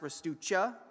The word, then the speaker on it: Ristuccia: My last name is Ristuccia, technically pronounced Ristuccia.